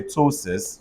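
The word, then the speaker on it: ptosis: PTOSRS say Tosis.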